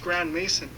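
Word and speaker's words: Grandmaison: even his last name is suspicious as it's pronounced Grand Mason add that with the fact that his family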